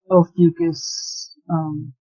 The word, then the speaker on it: Ophiuchus: Is that how you pronounce it? Well, I haven't gotten into what I'm going to get into about it, but what everybody else calls it is Ophiuchus.